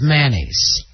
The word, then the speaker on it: mayonnaise: do you say it mayonnaise see that's mayonnaise man a's two syllables yeah and it's mayonnaise for uh 45 of the country and then uh 41 percent of the uh country says manny's and i say mayonnaise